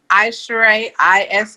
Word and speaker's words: Aisharai: You can find me anywhere at Aisharai, ISHARAI, Artist Management. Sometimes it's spelled MGMT, but it's still Aisharai Artist Management.